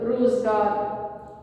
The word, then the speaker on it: روزگار: پھر اس سے اگلا لفظ ہے روزگار، رے کے اوپر پیش، واو پہ جزم، زے پہ جزم، گاف کے اوپر زبر، رے کے اوپر بھی جزم، روزگار.